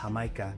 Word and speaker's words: Jamaica: Next little extra is hibiscus water, and in Spanish it's spelled Jamaica, but it's pronounced Jamaica.